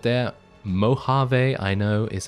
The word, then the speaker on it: Mojave: really good anyway those two groups right there Mojave I know is how you say it yeah